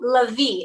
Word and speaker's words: Lavi: your last name right lavi is that how you say it so la vie it's like the emphasis is on the end love it okay so